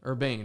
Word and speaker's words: URBANE: URBANE, right? That's how you pronounce Yep.